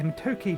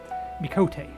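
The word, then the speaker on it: Miqo'te: Behind them, you should see a Mitoke gentleman. I pronounced that wrong, but we'll continue anyway. Mikote, there we go.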